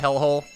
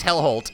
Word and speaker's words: Hellholt: Did I just call it Hellhole? That's not my fault. They named their goddamn place Hellholt, and they get pissed when people start pronouncing it incorrectly.